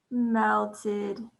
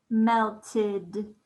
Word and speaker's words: melted: Like, oh no, my ice cream melted. Melted. What sound do you hear at the end of melted?